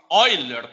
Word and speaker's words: Euler: Ele tem infinitas casas decimais, por isso que a gente chama ele de E em homenagem ao, fala-se Euler, né? A pronúncia, mas se escreve Euler.